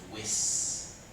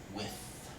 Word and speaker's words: with: for example pronunciation um you have to watch your th sound at the end of words like with instead of whis with and also uh the